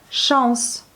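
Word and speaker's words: шанс: Chance. La chance, chance. Chance. Vous prononcez bien le N. Je commence à la faire sourde comme en français.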